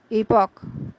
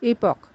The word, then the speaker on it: epoch: the sound you make then there's the noun pronounced as epoch which is a reference to a memorable event or date or the time that is marked by a new period or new development so it is epoch the word Orchestra as everyone knows Means A